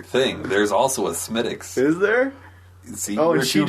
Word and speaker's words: Smithwick's: Someone made me look like an ass at Old Chicago's. I ordered a Smithwick's. And they're like, Smittix?